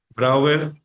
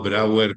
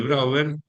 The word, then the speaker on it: Brouwer: Brouwer, que se escribe B larga R O U W E R, ¿sí? No Brouwer como suena y como ha sido transcrito en algunos cursos de mi bueno, este publicado.